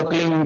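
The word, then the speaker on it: क्लीं: फैलेगा उसका होता है एक शब्द क्लीन शब्द क्या आधा ला में मिला हुआ बड़ी की मात्रा और बिंदी उसका उच्चारण होगा क्लीन गाय गाय की ध्वनि निकलेगी पीछे।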